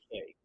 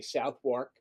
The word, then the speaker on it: Southwark: It's called The Southwark Stigmata, and Southwark it's spelled Southwark, which I would say Southwark, and Chris laughs at me and goes, no. Chris is British. He goes, no, it's Southwark.